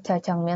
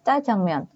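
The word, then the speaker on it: 짜장면: tapi ada penekanannya ya jadi bacanya kayak Ca ini ada contohnya Ca jangm Jadi kalau selama ini kalian ngomongnya Ja jangmon Tuh salah ya yang benar ngomongnya Ca jangmon atau mungkin kalian pernah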